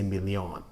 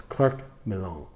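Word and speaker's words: Clerc Milon: called cler milan and i'm trying to pronounce this right because for some reason and other viewers have pointed this out i somehow twist this somehow weird and say me leon so it's clerk malone and claire milan is um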